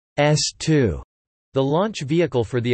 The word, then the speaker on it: S-II: The A1 and A2 stands were built to test and flight certify the second stage of the Saturn V, the S2, pronounced S2, the launch vehicle for the Apollo program.